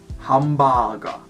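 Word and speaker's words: ハンバーガー: and in other languages but in Japanese it's pronounced ham baaga right so there is no are actually as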